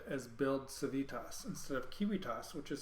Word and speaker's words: Civitas: a Latin word and the ancient Romans would have not pronounced that c soft it would always been C hard and the V well